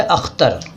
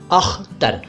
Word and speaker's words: अख्तर: पहले तो इसका उच्चारण यानी बोलने का तरीका। अख्तर, अख्तर नहीं, अख्तर नहीं, अख्तर।